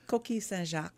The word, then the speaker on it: Coquille Saint-Jacques: So let us begin with, is it Coquille Saint-Jacques? Mm-hmm. That's correct? I said it right? Pretty close, yeah. It's Coquille Saint-Jacques.